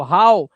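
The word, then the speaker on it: how: लेकिन कुछ वर्ड्स में ओ डब्ल्यू को ओ से नहीं पढ़ते बल्कि ओ डब्ल्यू को औ से पढ़ते हैं। जैसे यहां पर देखो हाउ इसे हो नहीं पढ़ेंगे। इसे पढ़ते हैं हाउ।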